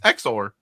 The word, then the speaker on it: Exor: on your video that it's exor yeah and I was we were talking about that beforehand too and and truth be known uh it's exor because deal pronounces it exor um he he says